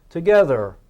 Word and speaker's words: together: To, get, and her, but we pronounce the th as the, so not t and h, so it's together.